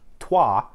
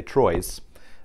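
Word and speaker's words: Troyes: game that's i guess officially pronounced trois although some might look at it and say troye's and trois is a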